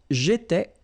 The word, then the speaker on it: j'étais: Remember, here we've got accent aigu, so it goes like et, all right?